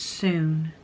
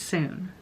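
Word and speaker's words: Sune: I am on page 128 and I just wanted to update on how you pronounce that hockey coach's name, 𝒎𝒏𝒂𝒔. It's soon. So in case I say it wrong throughout the video, it's soon.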